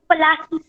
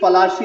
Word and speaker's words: पलाशी: Okay, अब आता है battle of, पलासी। Actually it इज पलाशी, लेकिन ब्रिटिशर्स इसको प्लासे कहते थे because they were not able to pronounce it. Okay, तो अपने को क्या